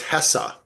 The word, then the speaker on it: Hesse: Well, he says it's Hessa, Herman Hesse. Okay, so I like that pronunciation.